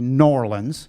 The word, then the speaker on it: New Orleans: around America and you were down in now pronounce it properly norleans Norwin Sudan in norlin it was the mardi